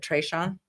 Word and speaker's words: Trayshawn: Or even, what is it, Trayshawn? Yeah. Did I say it right? Yeah, you said it right.